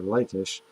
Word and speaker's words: Lachish: Lachish, even though I've heard it pronounced as Lachish or Lachish, but we'll say Lachish.